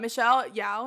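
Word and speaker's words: Michelle Yeoh: cute that's funny but michelle yao is how you say it i think she was really good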